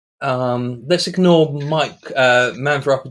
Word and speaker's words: Miek: My name is Mike, which is pronounced Mike or Miek, not Meek, which everyone incorrectly pronounces.